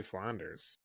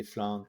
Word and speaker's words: Flandre: I have an IPA de Flanders. Yeah, you have the IPA de Flandre. Let me see. IPA de Flandre.